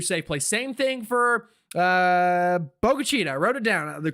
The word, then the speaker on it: Bogalusa: Same thing for Bogalusa. I wrote it down the correct pronunciation, Bogalusa.